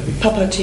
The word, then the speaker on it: Papaji: Es gab mal, wie spricht man denn aus? Papaji oder Papaji? Papaji. Papaji spricht man.